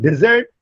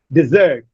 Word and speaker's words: desert: Desert. Desert is a noun and desert is a verb. In the verb, the stress shifts on the second syllable. In noun, the stress is on the first syllable.